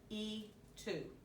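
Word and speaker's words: y tú: it or not but how do you pronounce the y2 thing oh e2 e2 okay so the e means and to you so they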